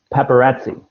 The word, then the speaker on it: paparazzi: Yeah, so just this word, you didn't quite know how to say this word, so it's paparazzi.